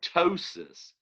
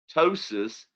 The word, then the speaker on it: ptosis: or away and then ptosis with a silent p ptosis means to fall okay